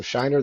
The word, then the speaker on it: Szajner: up with the Zed and the J so so I just spell it phenetically for people so Shiner the writer uh everywhere all one